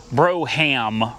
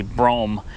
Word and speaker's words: Brougham: Cadillac bro is that did I say it right bro I know it's Broham right look at my Broham Cadillac now I'm pretty sure it's actually brome this is a nice